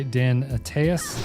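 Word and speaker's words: Dan Attias: It's the second episode of the third season, Deadwood, directed by Dan Ataas, I believe this is how you say it, written by David Milch and Regina Curado.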